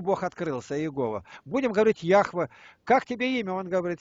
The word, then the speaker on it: Яхве: Я слышал, это неправильное имя. Яхве. Яхве, я знаю. Яхве, Ягвы там проще, неправильное произношение.